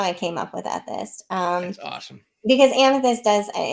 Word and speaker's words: Ethyst: It's Ethist. Thank you. ETHYST. Um, ETHYST. Yes, yeah, ETHYST. it's Ethist.